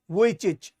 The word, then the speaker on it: Vujicic: Okay, इसका pronunciation है निक वुइचिच.